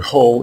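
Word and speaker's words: הוא: The word Ho is a third person masculine singular pronoun, which means he in English, but it is written here in the short form. The complete or long form is spelled Ha, Wa, and Ah, and the terminal letter Ah is silent because this is a masculine word.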